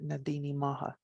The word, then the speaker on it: Na Daoine Maithe: it changes when you put it all together nadine maha so that is the good people and i